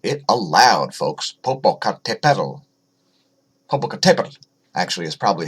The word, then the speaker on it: Popocatépetl: Popocatépetl, actually, is probably how it's pronounced.